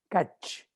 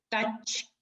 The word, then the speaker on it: Tkach: día de hoy, Kach. Porque la T no se pronuncia.